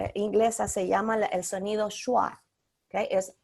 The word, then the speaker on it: schwa: En pronunciación inglesa se llama el sonido schwa, ¿ok? Es o fu. Shua. El Schwa. sonido de shua. Es schwa.